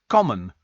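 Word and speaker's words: Coimín: Also, Kim says the Irish version of Kim is Coimin, pronounced common.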